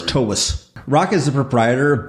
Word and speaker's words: Toews: Yeah, like T-A-V-E-S, Toews. It's actually okay. V sound. Slavic? And it is Toews. Correct. Yeah, so it's Toews.